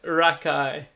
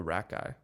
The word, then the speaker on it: Rakei: Jordan Rakei. Gotcha. How do you spell Rakei? So, I mean, there's different ways of pronouncing Rakei. Okay. But I've always gone Rakei. But it's R-A-K, and then it's E-I.